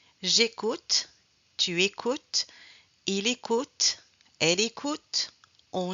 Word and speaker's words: écoutes: On ne prononce pas le S ni le E.